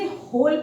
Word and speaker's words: whole: WHOLE होल, इसे होल पढ़ते हैं।